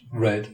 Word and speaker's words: read: let us note that the past of read is red pronounced red like the color red it follows the pattern of lead whose past is Led however for reasons I